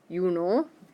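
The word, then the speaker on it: Juni: and loudspeakers and stuff they do the same thing with uni and you Lee so sometimes you will hear somebody say you know so that you can tell they're talking about june instead of july so think of the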